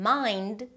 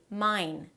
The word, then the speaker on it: mind: For example, instead of saying 'text' You may say 'tex' Instead of saying 'mind' You may say 'mine' In Spanish, there are no words that end with more than one consonant.